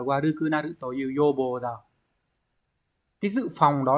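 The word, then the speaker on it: 予防: Đọc là yobo.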